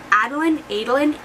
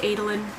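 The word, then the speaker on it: Eadlyn: Her name is Adlyn, E-A-D-L-Y-N. I'm gonna go with Adlyn Adelion. I'm gonna go with Adelion, because that's how I was like pronouncing it in my head.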